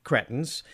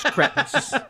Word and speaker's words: cretins: And so I said, cretins. And she said, no, actually, it's pronounced cretins. And I was like, no, I'm pretty sure it's cretins. She's like, goodbye. No, it's cretins.